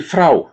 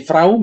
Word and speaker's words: Frau: Seperti tadi R-nya kita di sini ya, di tenggorokan ya. Kita harus menyiapkan di sana.